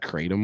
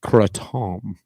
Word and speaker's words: kratom: I think it's pronounced kratom. Not to be confused with crouton.